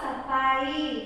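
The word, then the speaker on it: सफ़ाई: तो फ का उच्चारण परिवर्तन हुआ ना, तो यहाँ पर जरा सफाई उच्चारण में अंतर आ गया है ना।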